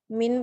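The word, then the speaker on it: μ: populasi jadi misalnya ada Min proporsi dan varian kalau pada populasi pada populasi rata-rata itu dituliskannya sebagai simbol ini Miu seperti m tapi dia latin gitu ya Miu bacanya Mi dia itu rata-rata Tapi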